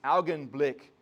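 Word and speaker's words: Augenblick: of an eye experience in german it's algon blick okay you just like to say german words from time to time because you gotta say it like arnold algon blick but uh this blink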